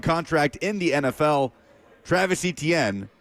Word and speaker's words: Etienne: So I'm like, man, it's Etienne. Like, how you see it is how you say it.